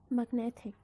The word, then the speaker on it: magnet: The suffix is ic, magnetic. The stress moved from mag to net. So if there's no suffix, you're going to pronounce magnet.